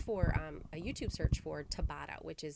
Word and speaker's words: Tabata: YouTube called search for a YouTube search for Tabata, which is spelled T-A-B-A-T-A.